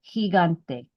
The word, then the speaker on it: gigante: Now, without the U in there, gigante.